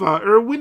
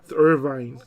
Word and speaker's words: Irvine: with a prompto was nice so yeah with Irwin I guess you can now make a triple